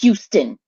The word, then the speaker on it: Houston: When New Yorkers pronounce Houston. Why? They say Houston. Like it's not Houston. It's Houston. As a Texan, I can tell you, it's Houston. It's Houston.